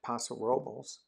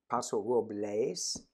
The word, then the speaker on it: Paso Robles: And it's weird because we could drive up 20 miles up to Paso Robles and I know I mispronounced that. It's Paso Robles, I think, but nobody pronounces it like that out here.